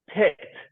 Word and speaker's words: picked: this word so the present tense of this word is pick right and now let's put it in the past tense picked picked where do I put this word yes help me where do I put it picked in the city yes pick that's right T what about this will